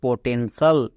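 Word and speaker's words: potential: এর জন্য একার হয়েছে আর টি আই এল এর জন্য সাল তাহলে কি দাঁড়ালো পটেনশাল তাহলে বোঝা গেল আমার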